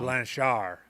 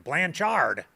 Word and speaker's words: Blanchard: Blanchar. You don't pronounce the D, so you don't say it like an American. Blanchard.